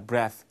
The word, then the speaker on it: breath: breath 흔히 말하면 뻔데기 발음 여기는 이런 발음인데요.